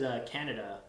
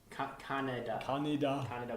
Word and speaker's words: Kaneda: His name was Kaneda. Kaneda, but it's spelled with a K. Tetsuo. And every time he says it, I think he's saying like the country Canada.